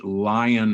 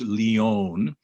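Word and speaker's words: Lyon: and it's called the lion heart diet it's spelled l-y-o-n it's leon but everybody calls it the lion heart diet study and what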